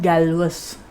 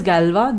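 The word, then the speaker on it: Galois: initially given by the fabulous mathematician which we pronounce by saying galva and not galves right or gallios right so the pronunciation is galva this mathematician galva about 180 years ago gave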